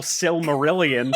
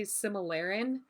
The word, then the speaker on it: Silmarillion: get the name out is that how it's pronounced that's how I I've always heard it pronounced what do you think it was I don't know because I like I think when I just scroll past it really quickly I just say similarin I thought it was